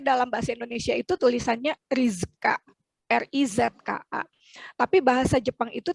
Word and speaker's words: Rizka: Nah karena ada pelafalan suku kata itu, nama saya yang tadinya Rizka, cuman R-I-Z-K-A, kalau dilafalkan dalam bahasa Jepang itu menjadi rizuka karena tidak ada Z tapi adanya zu.